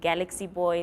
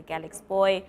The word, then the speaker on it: GALXBOY: confused some people say galaxy boy some people say galex boy what is how do you pronounce your brand oh pronounce it galex boy basically but yeah a lot